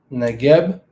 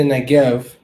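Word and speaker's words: נגב: on one sec negative they say negev all right but again there's no v e or o in the la shawan kadash all right so the two e's would be a's and then the v as they're pronouncing it would be a b they got it right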